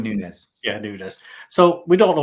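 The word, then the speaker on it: Núñez: to do or well do you pronounce it dude is it Nunez is that I pronounce it let's go with newness yeah so we don't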